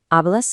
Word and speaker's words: hablas: Hablas inglés? Just like before, that H at the front of hablas is completely invisible to the ear.